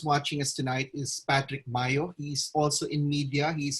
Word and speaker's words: Mayo: Patrick Mayo, M-A-Y-O? Yes, sir. Yes, sir. Oh, okay. You know, that's an American family name, and it's pronounced Mayo.